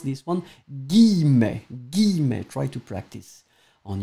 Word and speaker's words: guillemets: Je vais citer entre guillemets. Tricky word to pronounce this one. Guillemets.